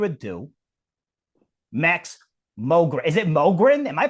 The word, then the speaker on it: Mogren: Is it Mogrin? Am I pronouncing that right? It is Mogin.